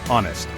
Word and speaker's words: honest: honest hour and honor the H is silent making honest sound like honest finally we have the